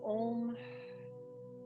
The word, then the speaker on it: om: three shanti together so om considered to be the primordial sound as three syllables the ah that represents the creational aspect of the universe the o signifies the maintenance energy of the universe